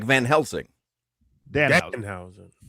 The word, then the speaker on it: Danhausen: Hey, I'm Danhausen. By the way, you put the emphasis on the wrong part. You put emphasis on the Hausen. It's just Danhausen.